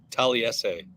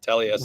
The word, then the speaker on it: Taliese: Taliese Fuaga is the newest New Orleans Saint. What are your impressions? Okay, let's first of all get the name is Taliese. Oh, Taliese. Which we learned today. Yeah, Taliese.